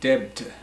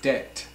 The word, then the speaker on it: debt: we don't say Det Devta devta know it's Det so the B is silent so debt means like